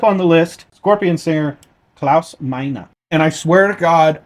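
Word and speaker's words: Klaus Meine: Next up on the list, Scorpion singer Claus Mina. And I swear to God, I Googled it, I did the translation, I did the pronunciation thing, and that's what it told me to say. Claus Mina.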